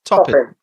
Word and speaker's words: Toppin: Is it Toppin or Topin? I've never actually asked the pronunciation. Toppin.